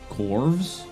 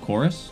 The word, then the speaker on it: Chorus: what is this called corvs how do you pronounce that bro chorus it's oh it's chorus but that v is a u it's chorus but they used a v instead of a u all right that's cool